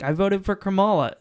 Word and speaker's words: Kamala: pronounce her name properly. Her She's name is a- Kamala.